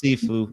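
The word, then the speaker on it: Siifu: It's Sefue.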